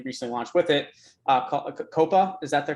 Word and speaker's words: Kopa: parts that you recently launched with it uh coppa is that the correct pronunciation it is correct yes uh can you